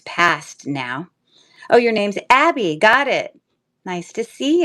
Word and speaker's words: Abbe: So is that the spelling of your name is Abbe and not Abby, but when people see the spelling Abby, they know how to pronounce it?